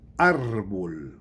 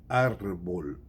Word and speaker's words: árbol: Árbol. Árbol. Masculino, não é a árvore, não. É el árbol. Árbol, uma palavra masculina, grave, terminada em L, portanto não termina em N, nem em S, nem em vogal. Assim que é acentuado, árbol.